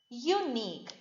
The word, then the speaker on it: unique: are exceptions for example unique is a word starting with the bubble u but here unique yi it's starting with the sound similar to that of y so